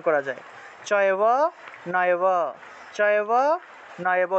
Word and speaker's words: নৈব: চয়ব নয়ব, চয়ব নয়ব। যদি নৈব থাকে নয়ব, নৈব থাকলে নয়ব, চৈব থাকলে চয়ব, এইভাবে ভেঙে ভেঙে উচ্চারণ করা যায়।